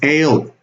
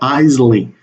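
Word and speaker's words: aisle: seat or ales or corridor seat okay the pronunciation of this word is ale ale okay not Eisley ale it's the same as corridor here's avoiding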